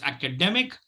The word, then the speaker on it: academic: It is academic, and it's not academic. It's academic. The primary stress is on the 3rd syllable, and the secondary stress is on the 1st syllable.